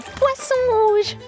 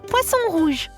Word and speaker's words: poisson rouge: Well, there is one I particularly like, le poisson rouge.